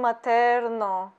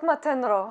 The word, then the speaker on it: Matenro: like first discovering them, I always call them Materno, not Matenro. Only later I just figured it out, I was saying it wrong.